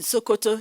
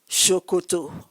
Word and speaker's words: Sokoto: In fact, there was this slang that what is there in Sokoto is there in Shokoto. Sokoto is the farthest point northwest of Nigeria. Shokoto. Written the same way, but pronounced S-O-K-O-T-O.